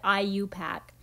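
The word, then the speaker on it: IUPAC: pack which is clearly it's an abbreviation but we pronounce it like a word I you pack and then the other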